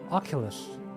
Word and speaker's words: Oculus: a pure setup I wanted to buy an Oculus Rift if possible Killers Oculus that's the way to pronounce it my Oculus Rift but I haven't